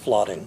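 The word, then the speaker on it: Fladung: The spelling is F L A D U N G. It's pronounced Flotting.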